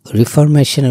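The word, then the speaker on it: reformation: কিন্তু রিফরমেশনের উচ্চারণটা অনেকটা। রেফরমেশন। রেফরমেশন মানে হচ্ছে সংস্কার।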